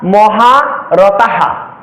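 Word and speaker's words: মহারথাঃ: হালকা পরিবর্তন হতে পারে উদাহরণস্বরূপ বলা যেতে পারে যে আমি এখানে লিখলাম মহারথা যখন এই ওয়ার্ডটি কোন শ্লোকের শেষে বা 16 অক্ষরের পরে বা আট অক্ষরের পরে থাকলে এই বিসর্গের উচ্চারণ হবে এবং এর আগের ব্যঞ্জন বর্ণের সাথে কার চিহ্ন অনুযায়ী এ হ এর উচ্চারণ হালকা পরিবর্তন হতে পারে কেমন অর্থাৎ মহা রতাহা অর্থাৎ বিসর্গের জন্য হ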